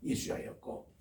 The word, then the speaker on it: 예수아: 원래 구약에는 예수아였어요. 그게 우리 신약에 와서 예수스라고 해서 예수라고 이름 발음하는데 본래는 예수아입니다. 그러니까 이분이 있었어요. 에스라 때의 말씀 사경회를 해석하는 학사였습니다. 이분 이름도 예수아였고, 그리고 신약 시대만 해도 예수아라는 이름이 얼마나 많은 거 아니?